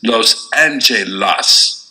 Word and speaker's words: Los Angeles: Los Angeles should be pronounced as it reads, that is, Los Angeles.